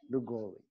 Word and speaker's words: Lllugolli: Lllugolli.